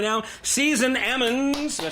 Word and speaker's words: Season Ammons: We got a special guest in the studio with me right now, Season Ammons.